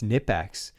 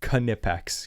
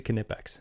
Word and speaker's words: Knipex: people that said it's Nipex and the family that owns that company started wearing shirts that said it's Knipex cuz that's how they pronounce it in that language. So it's actually Knipex.